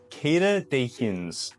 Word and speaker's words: Queda de Rins: let's do it QDR is actually an acronym that stands for kada de hin I hope you're pronouncing that reasonably well because it is a Portuguese name uh and the movement